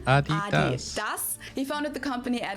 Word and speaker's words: Adidas: were referring to because they usually pronounce it Adidas. And in Germany, we say Adidas. Adidas. Adidas. Adidas. Super different.